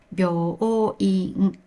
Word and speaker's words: 病院: In both words, u is pronounced as o, since it comes after the vowel o in 病. 病院 has 4 mora, and 美容院 has 5 mora. If you pronounce 病 as 美容, which has 2 mora, people will think you're saying 美容院 instead of 病院. Please remember this rhythm.